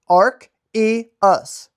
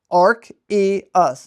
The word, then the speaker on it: Arceus: It's very simple. Arc, see that? Arc. Arceus. Arceus. Not Arceus. Arceus. It is told in mythology that this Pokemon was born before the universe even existed. Arceus.